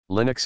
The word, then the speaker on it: Linux: The name Linux is a combination of the first name of its principal programmer. Finland's Linus Torvalds, 1970, and the Unix operating system. Linux, pronounced with a short I, is an open-source computer